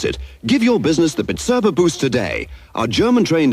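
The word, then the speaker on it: Bizerba: and price labeling Machinery is bitera B erba pronounced bitera so now you can pronounce it give your business the bitera Boost today our German trained Engineers will also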